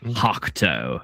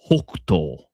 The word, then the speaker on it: Hokuto: It's not Hokuto. It's Hokuto.